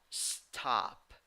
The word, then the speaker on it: stop: You write it with O, but you pronounce it with A. But this A is a special A. It is a mix of A and O. All right, so it's stop, stop.